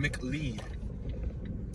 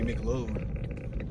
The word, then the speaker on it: McLeod: Let's make a left right here on McLeod. It's spelled M-C-L-E-O-D. It could be McLeod, but I'm gonna say McLeod, the O sign.